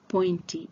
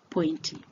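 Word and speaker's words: pointi: instead the English word point which is pronounced pointy in swah is used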